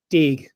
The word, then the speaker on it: Deege: Deege. Deege. Yes, Deege with a hard G.